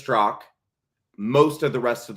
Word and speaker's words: Straka: I do remember finding out the walk away guy, Brandon Stro, which by the way, it's Stro. It's not Straa. I get that all the time. Brandon Straa.